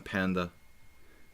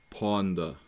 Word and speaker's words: Ponda: See, I even mispronounced my own mascot. The Ponda. I call him Panda. Just not... Hey. It's Ponda.